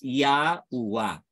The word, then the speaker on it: Yahuah: basahin din in Breakdown yad he UA he or pronounce it as yaua yaa po ang pangalan